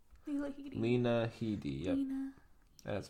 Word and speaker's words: Lena Headey: Lena Headey. Yeah. Lena Headey. Lena Headey. Yep. Lena. That's pronunciation.